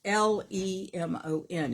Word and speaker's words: Leman: Kevin Leman, or Lemon. I guess it's Lemon. And it's not spelled like the fruit. It's Lemon.